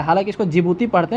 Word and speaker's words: Djibouti: ठीक है, DJIBOUTI ऐसे करके इस कंट्री का नाम, तो जिबूती पढ़ा जाता है। लेकिन आप याद करने के लिए इसको डी भी आगे प्रोनाउंस कर सकते हैं, ऐसा डी साइलेंट रहता है।